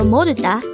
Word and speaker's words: 모르다: word number 89 this is pronounced as a three-syllable word the first syllable is